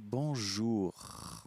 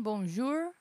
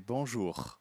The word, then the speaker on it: bonjour: É bonjour. O R final é pronunciado. Eu não quero ouvir um R, um caipira, um R de São Paulo. Isso. Não é nem bonjour, nem bonjour. Exatamente. É bonjour.